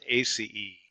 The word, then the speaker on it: aceae: That's pronounced "asee-ee." Generally in Latin names, at least of plants and animals, you pronounce every syllable you could make out of a word.